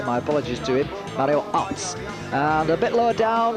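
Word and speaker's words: Aerts: I should remember to pronounce his name the correct way, by the way, my apologies to him, Mario Arts.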